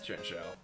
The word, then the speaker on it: Chinchou: You also can I find thought one it in was Little pronounced Bar. Chin Chow. It's Chinchou.